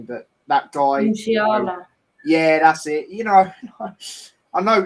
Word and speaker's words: Musiala: Musiala.